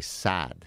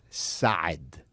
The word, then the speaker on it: Saad: Okay, so for example, my last name, everybody, all Americans will say Saad. You just extend the A. Mm-hmm. But the proper way to say it, it's Gad Saad.